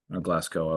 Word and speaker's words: Glasgow: The people that are on that council, Ian and Gavin from CrossFit Glasgow, Glasgow, I was told it's pronounced, and Mikhail from CrossFit